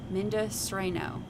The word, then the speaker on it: Mendocino: Oh, it's pronounced Mendocino.